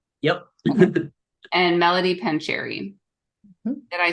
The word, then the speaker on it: Pancheri: it right that time right yep and Melody pancheri did I say your last name right you